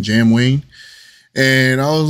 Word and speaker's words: JamWayne: Wayne right that's how you say his name Jam Wayne and I was like okay I'mma check it